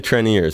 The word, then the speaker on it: Treniers: The Treniers, that's how you say it.